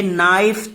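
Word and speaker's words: knife: ये बकेट बाल्टी को कहते हैं, ये नाइफ चाकू, यहां के साइलेंट रहेगा, कनाइफ मत पढ़िएगा, नाइफ।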